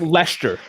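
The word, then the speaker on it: Leicester: on things like like Lester for instance or Worcestershire when you look at it phonetically that is not how you say these words are we really getting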